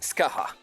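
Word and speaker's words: Scáthach: name may be felt like scoic but it's pronounced Skaha looking at this figure straight on she is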